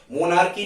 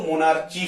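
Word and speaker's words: monarchy: मोनार्की भी कह सकते हो, मोनार्ची भी कह सकते हो, ठीक है।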